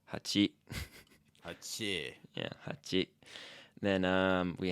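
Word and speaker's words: 八: And then 7 also has 2 different ways of being pronounced. There's nana Na. Na. Na. and shichi. Shi. Chi. Shichi. 8 is hachi.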